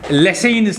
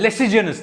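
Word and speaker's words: Lassaigne's: मैं लिखूंगा, that is Lessein's test. This is Lessein's test, and it is sometimes called as Lesseigen's test. But G is silent.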